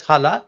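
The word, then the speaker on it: Jala: in that year the longest year Maize called Hala maze it's pronounced as Hala it is written as j-a-l-a because J in in Spanish is ha so it's Hala mace 45 centimeters long restricted to certain belts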